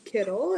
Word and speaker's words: Kittel: my name is Kittle it's pronounced similar to like a Skittle okay good I grew